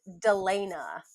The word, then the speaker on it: Delena: uh very valid um it's pronounced Delena Dela Delena okay when I see